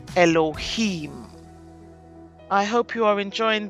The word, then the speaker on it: Elohim: And that one we pronounce as Elohim.